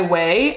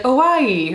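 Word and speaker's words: Ouai: The next thing I see is by Way. I used to pronounce this brand so wrong. I'd be like, Hawaii, like that. That's, if you can see, it's like all vowels.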